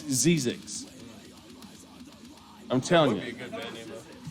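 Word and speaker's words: Zzyzx: pronouncing it right. It's Zizix.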